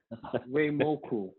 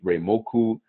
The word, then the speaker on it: Reimoku: Men, connect with this man right here, Reimoku. Did I say it right? Reimoku. Yes, that's right.